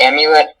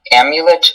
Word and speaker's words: amulet: The sentence is, the amulet is made into a necklace. This can be pronounced amulet or amulet.